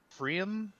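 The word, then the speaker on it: Pfriem: uh i am drinking prim i don't know how to pronounce it p f r i okay one of those two letters is silent okay yeah i'm pretty sure it's the p is it good yes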